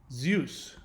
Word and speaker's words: Zeus: and pretty earth mother zeus Greek pronounced Z use D Z the so the Z is pronounced like D Z cognate with Vedic DA